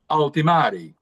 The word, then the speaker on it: Ultimarii: altimari and I'm learning it's a Latin pronunciation that I'm getting just right altimari it's an AI powerered